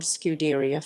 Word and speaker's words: scuderia: idea of producing road cars when he formed scuderia ferrari in 1929 with headquarters in modena scuderia ferrari pronounced scuderi a literally means ferrari stable and